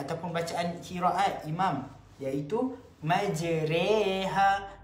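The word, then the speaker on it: مجراها: Imalah pun termasuk dalam bidang qiraat ataupun bacaan qiraat imam, iaitu majreha. Sepatutnya kalimah majroha kita baca dengan majreha.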